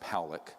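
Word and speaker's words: Pawelec: this man William poic it's pronounced poic uh was a man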